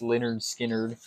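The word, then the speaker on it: Lynyrd Skynyrd: yeah so what's that one skard oh nice pronounced leard skard what' you get I got the uh the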